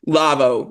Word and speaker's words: Lavo: the red tribe again lavvo Lavo yes La just so they're not lava lavoo yes yes because